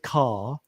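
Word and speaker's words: Kerr: her name is Judith car oh you say it car it's spelled KR Judith car um she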